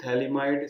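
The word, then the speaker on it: phthalimide: आगे चलते हैं हम, और अगली प्रिपरेशन के लिए, जिसका नाम है गैब्रियल थैलिमाइड सिंथेसिस। ये भी नेमिंग रिएक्शन है नंबर 6 पे, गैब्रियल पी साइलेंट है, थैलिमाइड सिंथेसिस। इसके बारे में पॉपुलर बात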